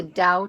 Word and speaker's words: Tao: I found, this is the Tao of Pooh, and the T, you do pronounce it as if it's a D, letter D. So it's the Tao of Pooh.